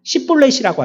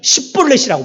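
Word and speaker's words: 쉽볼렛: 그래서 피아를 식별하는 방법이 쉬볼렛이라고 하느냐 시볼렛이라고 하느냐 이걸로 분간한다는 거예요. 여러분들이 그리스도인입니다. 저와 여러분들은 그리스도인입니다. 우리는 하나님의 사명을 받은 하나님의 대사들입니다. 그렇다면 우리들도 어떻게 발음해요? 십볼렛이라고 발음해야 되는 거예요.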